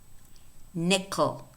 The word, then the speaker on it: nickel: So we clearly see that the first syllable is ni, ni, ni. But the last syllable is ko, and the vowel disappears.